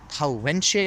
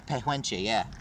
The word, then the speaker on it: Pehuenche: The Pauenche, I think. I mispronounced that. Let me go take a look. I think it's in the Andes, right? It's in the Andes Mountains. Mapuche Pehuenche, yeah.